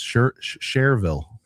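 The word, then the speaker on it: Schererville: Screw the spelling, but the spelling can mislead the pronunciation. Do you know what I'm saying for people who don't know? I mean, the spelling looks like Sher Shererville.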